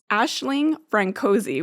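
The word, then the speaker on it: Aisling Franciosi: or not at all Ashling francoi which I did look up and that's the pronunciation apparently she uh has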